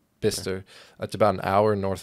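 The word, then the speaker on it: Bicester: in that they were in bister it's not spelled like that it's b i c e s e r that's so odd bister that's about an hour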